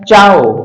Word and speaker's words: CIAO: CIAO इसका उच्चारण होता है चाओ।